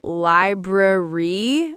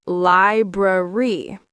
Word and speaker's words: library: Many people say library, but it's library.